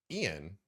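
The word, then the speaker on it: Ion: It's Ian Hazakostas. Ian.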